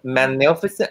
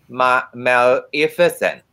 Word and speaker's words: Maleficent: With my pink wing and my is it magnificent? How do you say it? Maleficent.